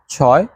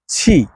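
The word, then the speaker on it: 七: মানে ছয় বা সিক্স এরপর আসি ছি ওই যে আমরা বাংলায় বলি না ছি এটা কোন কাজ হইলো ভাই ঠিক আছে ঐরকম একটা ধরেন প্রথম শব্দটা হবে ছি ছি মানে হচ্ছে সাত তো এখানে কিন্তু একটা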